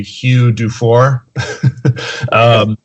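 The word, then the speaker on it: Hugues Dufourt: But this guy, the English pronunciation would be Hugh Dufour.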